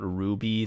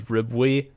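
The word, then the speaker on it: RWBY: about little girls um wait is that how you say it I've been saying the letters in my internal monologue when I read it yeah I didn't know I thought it was riwe uh myself but he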